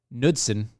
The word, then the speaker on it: Knudsen: of texas and austin knudsen there's a silent k i'm just okay knitsen